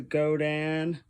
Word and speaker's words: Godin: This is the Godin, yes, that's how it's pronounced, Montreal Premier Limited, and a gorgeous sparkle green.